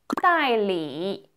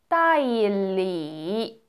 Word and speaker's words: 代理: 대리 이거 어떻게 읽을까요? 代理代理 이렇게 읽지 않고요. 代理 이렇게 읽습니다.